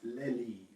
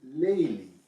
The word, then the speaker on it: les livres: in Guernsey French is les livres. The plural turns out to be les livres. So the becomes les, and an S is added to the word itself, although this S is not pronounced.